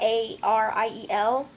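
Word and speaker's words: Arielle: like Ariel but not a r i e l it's gonna be Ariel um like stressing the L part so a-r-i-e-l-l-e yeah and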